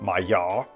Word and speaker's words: Maillard: learned the mayard reaction it's a french word so if you pronounce it properly i think you leave off the end of the word so it's like my yaw reaction but we say my yard it occurs when part